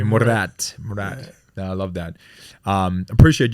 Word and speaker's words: Murat: It's Murat. In Murat. every language, you say it exactly the same way. Murat.